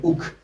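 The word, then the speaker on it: Hooch: Si vous voulez, je vais dire Hoek. On va le prononcer à la française parce que les Hollandais, ils font un truc que je n'arrive pas à entendre ce que ça dit.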